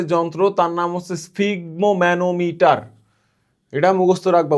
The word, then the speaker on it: স্ফিগমোম্যানোমিটার: রক্তচাপ মাপার যে যন্ত্র তার নাম হচ্ছে স্ফিগমোম্যানোমিটার। এটা মুখস্ত রাখবা।